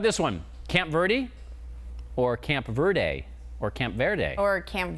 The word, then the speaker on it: Camp Verde: people have come to the consensus that they use Camp Verdie. They just say it that way. Really? Yeah. What about Camp Verde? They just they they don't even try to use the Spanish pronunciation.